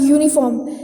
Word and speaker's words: uniform: यानी कि आपके जो भी वर्ड्स होते हैं जो eu यानी कि साउंड जो होता है, फॉर एग्जाम्पल यूनिफॉर्म, किस टाइप का साउंड निकल रहा है?